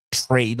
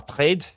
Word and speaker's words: trade: Même si après on dit America et puis on dit trade, on dit pas trade. C'est pas un e comme en français, c'est concessions.